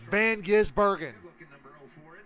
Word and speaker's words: Van Gisbergen: It's Van Gisbergen.